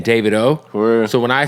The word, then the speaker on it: Davido: yeah my man Fireboy and by the way David O is how you say his name oh yeah I say DeVito I thought I thought listen I interviewed him